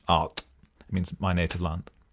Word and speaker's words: Ard: more about my project Art. It's spelled A-R-D, but the D is like a hard TH, Art.